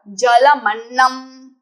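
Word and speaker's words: जलमन्नम्: First word, this is not tra, this is half na followed by full na. Jalam and annam together, jalamannam. Jalamannam.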